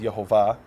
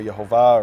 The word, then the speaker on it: Yehovah: Hebrew is yod V which some pronounce as yah or yve I pronounce it as yehovah for various uh textual reasons um but it's very clear that those are the letters yud V whether you pronounce as Yahweh or yahovah or other variations of that that the letters